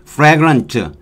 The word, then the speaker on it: fragrant: 자, 그 다음에 우리가 fragrant, 이 R로 발음이 되죠. L이 아니고 봄띠 L이 나오죠. 이거는 R을 거의 발음하지 않으면 돼요. R을 발음하는 듯 마는 듯 fragrant.